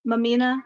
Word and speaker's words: Mumeanha: Hi, I'm Mamina. That's actually my name. That's actually how you say it.